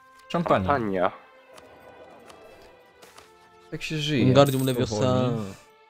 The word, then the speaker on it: Champagne: Tą Champagne, czy jak to się wymawia? Champagne.